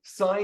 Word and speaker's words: sine: way we write it so sign is is spelled s n e uh but when you're using it in an equation you don't write it like that you write it as Sin n and we say sign and then s of